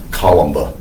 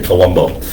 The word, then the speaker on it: Columba: with that we introduce St Columba which I mispronounced for the first 20 years of my life he was I'm Italian so he was say Columbo I got one question